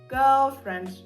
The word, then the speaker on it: girlfriend: Herfriend - це саме ґ тверде. ґг гг ґг ґ ганок. ґг ґг. Далі додаємо наше е ґ оцю таку недовимовлену л. Вона взагалі називається dog l. Пишіть в коментарях, якщо треба вам про неї розповісти. Girl, gлі.